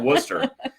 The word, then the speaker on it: Worcester: They saw they call it Worcester. I'm from Texas. For me, that's like it reminds me of the sauce that went on the steak tonight.